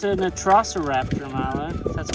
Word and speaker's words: Velociraptor: Oh, it's an Velociraptor, Milo.